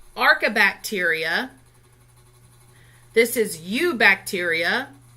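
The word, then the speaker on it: Eubacteria: ARCA bacteria this is U bacteria that E is silent there it's called or the e'en that you go together so it's u bacteria Protista fungi plant I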